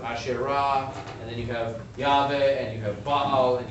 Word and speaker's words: Yahweh: In fact, the name of the Hebrew god, Yod-Heh-Vav-Heh, pronounced Adonai in traditional circles, but most likely pronounced as Yahweh, also sometimes comes out as Jehovah, depending on who's doing the telling.